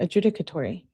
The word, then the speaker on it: adjudicatory: Adjudicatory.